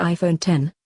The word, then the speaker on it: iPhone X: leap forward since the original iPhone it's not pronounced - necks by he way it's the iPhone 10 and the screen takes up the whole of